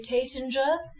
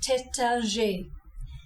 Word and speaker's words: Taittinger: You don't say Taittinger, you say Taittinger. The IN is another nasalized vowel. Say the syllable like the word tan and then nasalize the N.